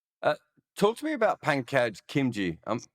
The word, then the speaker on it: Pankaj Khimji: Uh, Talk to me about Pankaj Khimji. I'm pronouncing that correctly, am I?